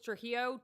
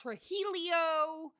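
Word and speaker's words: Trujillo: married last name was Trillo. T R U J I L L O. If you can pronounce fajita and you can pronounce tortilla, you can pronounce. I got tooli.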